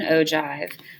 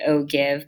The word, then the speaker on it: ogive: frequency graph which is also known as an ogive and here you can see it does look like oh give but it is pronounced ogi and so what the ogive does